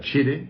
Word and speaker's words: Chery: Chery, kimilerine göre Chery, kimilerine göre Sherry, ki Sherry okunuyor. Reklamlarında Sherry ifadesini duyuyoruz.